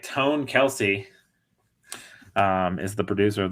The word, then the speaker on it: Kelce: think at one point I think Travis said that on New Heights that it was they pronounce it Kells foreign how to pronounce